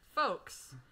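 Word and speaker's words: faux: teacher was like okay the word is folks she pronounced it folks so i wrote down folks as in f-o-l-k-s because she said the word was folks no no no the word was fo f-a-u-x but she pronounced it as folks so i wrote down folks and i got it wrong there was a time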